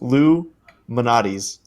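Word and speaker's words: Lou Malnati's: Lou Malnatus. But I'm pretty sure it's pronounced Lou Manatis.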